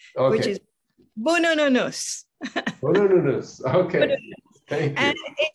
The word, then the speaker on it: Boonoonoonous: Okay, and the first thing is a pronunciation, okay. Which is Boonoonoonous.